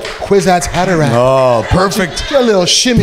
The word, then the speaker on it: Kwisatz Haderach: Especially because she was like, Kwisatz Haderach. Oh, perfect. A little shimmy. Perfect pronunciation, man.